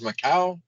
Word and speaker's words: Macau: Because Portugal had am I pronouncing it as Macau?